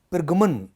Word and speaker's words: پرگمن: से दिखाई देता है پے جس کے نیچے زیر ہے، اور پھر رے، اور پھر گاف جس کے اوپر پیش ہے، اور پھر میم اور نون. تو اس کا جو تلفظ ہے وہ پرگمن جو ہے وہ بولا جائے گا.